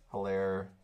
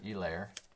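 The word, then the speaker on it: Helaire: patrick mahomes or clyde hillaire or elaire as they called him on monday night football which i'm assuming is probably the right pronunciation or enunciation all right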